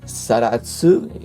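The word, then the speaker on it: Zaratsu: It is finished with the Salus polishing, or Saratsu if you say it in Japanese pronunciation, which is the same technique Grand Seiko uses on their watches, which is super well finished.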